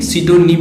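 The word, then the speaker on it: pseudonym: सिडोनिम होता है, एक ऐसे PSE से ही होता है, सिडोनिम होता है, काल्पनिक नाम होता है, ठीक है।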